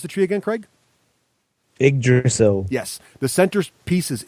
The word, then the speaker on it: Yggdrasil: One thing to note, you can't invade directly to, how do you pronounce the tree again, Craig? Yggdrasil.